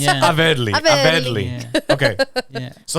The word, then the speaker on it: Averly: Well, technically, and everyone calls her but Averly, how does she say her right? She says it Averly. Like English. I heard them Dominican now. It's Averly.